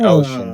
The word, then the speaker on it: Oshin: to di I and the album ocean the title track like the lyrics and the name of the album and the way it's spelled is based off of this poem that he found that like this child wrote and that's why it's spelled o sh i n because it was like a kid's poem and that's how they spelled the word ocean so yeah so you're you're